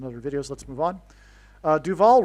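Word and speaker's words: Duvall: Duval rhymes with Hall, okay?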